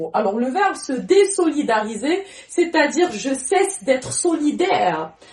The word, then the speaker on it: désolidariser: Le verbe, c'est se désolidariser. Il y a un S entre deux voyelles, mais on le prononce en tant que ce.